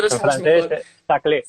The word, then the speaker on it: Saclay: No sé cómo se pronuncia Saclay, Saclay, Saclay. No sé cómo se pronuncia, tú lo En sabes francés, mejor. saclé. Saclay, ¿no?